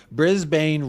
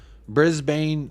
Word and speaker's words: Brisbane: Brisbane, not Brisbane? Brisbane, not Brisbane. Brisbane Rovers. So the A is silent.